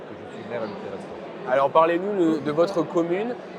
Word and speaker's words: Peyrestortes: Et on est avec Alain Dariot, maire de Perestorte. Est-ce que j'ai Voilà, bien dit? vous avez bien prononcé, c'est Ah voilà, Perestorte, Perestorte.